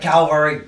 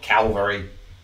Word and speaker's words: cavalry: Oh God, why do you spell it like cavalry? It's cavalry. V-A-L, not L-V-A. What the flip? That was a rant I had last stream. It's cavalry, not Calvary. Calvary sounds like Calgary or Carvery.